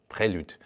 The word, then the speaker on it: prelude: Let's go with the Honda prelude which comes from this French word of the musical kickoff and would be with an exon as well in the French uh pronunciation and would be like prelude.